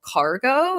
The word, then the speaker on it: Kargo: There was a really fun one I screenshotted called Cargo. It's spelled Kargo. And the reason I did a video screenshot of them because I thought it was so fun.